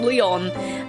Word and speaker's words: Lion: I don't know why it's spelled lion, but pronounced Leon, but that's how it is.